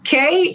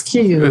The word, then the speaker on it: Que: with my Spanish friends see me they say k English really okay and I'm like no it's cute right I like it um but I've learned